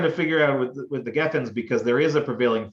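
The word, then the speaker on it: גפן: Kiddush, Bori Pri HaGafen, Gafen is like a weird thing that happened at some point or another. It really should be pronounced Geffen.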